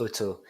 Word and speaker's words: OTO: that company sure um auto is is pronounced otto um and so otto